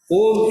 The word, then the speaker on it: Om: Om is supposed to have 3 syllables, A, U, Ma.